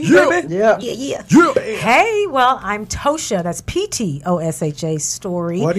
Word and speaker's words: Ptosha: No, the P is silent, huh? Not the T. Okay. So it's Ptosha Story, and that's my handle. Ptosha.